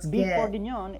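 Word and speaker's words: bœuf bourguignon: Beef orgon is how you say a Burgundy style stew in French.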